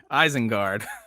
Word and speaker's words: Isengard: Isengard. Not spelled right, but you pronounced it right, so I will take that.